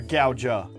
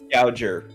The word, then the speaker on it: Gouger: Or Gouja? Gouger. No, it's ER.